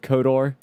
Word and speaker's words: KOTOR: Why do I pronounce it Coder instead of Kodor? I'm lazy sometimes, and Kotor is sometimes harder for me to get out. So I just say Coder.